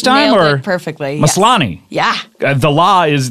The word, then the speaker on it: Maslany: Maslany. Yes. Yeah. The law is the stress syllable.